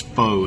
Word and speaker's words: pho: small pho and and some of you know it as foe it's not poe it's pronounced and that's this is the